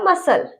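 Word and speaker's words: muscle: ठीक है, तीसरा है हमारा सीन, इसमें भी सी साइलेंट रहेगा। ठीक है, चौथा है हमारा मसल।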